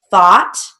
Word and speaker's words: thought: Thought, that has an aw sound, even though it's spelled O-U, that's one of those exceptions and rules.